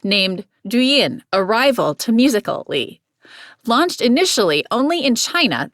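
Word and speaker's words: Musical.ly: who invented tik tok in 2014 a social media app named musically pronounced musical li became incredibly popular with the 13 to 18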